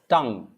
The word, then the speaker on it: tongue: that's interesting it's not tongue u no tangi no it's tongue tongue it's not tong it's tongue and that's